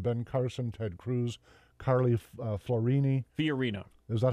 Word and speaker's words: Fiorina: Candidates featured in major polls, and then it lists them: Ben Carson, Ted Cruz, Carly Fiorina.